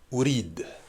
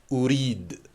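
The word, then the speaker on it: أريد: Ourid. 2 syllabes si tu préfères, ou rid. Ou rid. Voilà, tout simplement. Ourid. Sur la deuxième partie, je vais prolonger un petit peu, tu vas voir.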